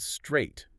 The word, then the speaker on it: straight: What about straight? S T R A I G H T The A I G H is completely silent. It's just one syllable.